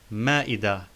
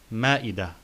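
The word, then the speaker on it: مائدة: So we pronounced the ta marbuta in sana and ma'ida like ha, like in wajh and intibah. Sana, ma'ida.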